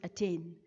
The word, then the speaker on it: attain: an example of i'm when you say the word attain we stress on the second syllable and not on the first so we say it as attain and not